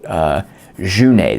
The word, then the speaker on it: Jeunet: There is Genet, a French playwright, Junet, this guy's Junet.